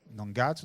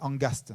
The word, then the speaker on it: angaz: Angaz, c'est parfois prononcé angaste. Vous avez dû entendre des gens qui parfois disent angaste, il s'est engasté.